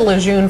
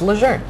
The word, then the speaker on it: Lejeune: click on this story I said leun forever so it was hard but out of respect it's lure it is it's and it's